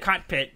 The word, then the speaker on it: cockpit: And am I saying it right? Yes. Cockpit. Yes. Okay. Don't put so much emphasis on the first syllable.